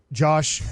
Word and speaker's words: Josh: Left tackle, Josh. Yosh. Starts with a Y.